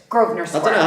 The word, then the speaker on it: Grosvenor: Grosvenor Square, but it's Grosvenor I Square.